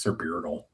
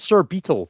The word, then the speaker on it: Sir Beetle: Sir Beardle. Yeah. Don't do that. Tried. He deserves better. I said Sir Beardle. I don't know. What do you want from me? That's Sir Beetle, thank you.